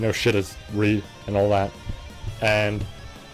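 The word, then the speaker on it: Reid: the same stuff that Reed yeah I'm saying it correctly this time Reed I apologize for constantly saying raid just raid just sounds cooler but I've realized by now it's Reed so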